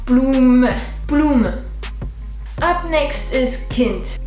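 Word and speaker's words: Kind: plume up next is Kint meaning child it's like a kin but with a d at the end this is my kin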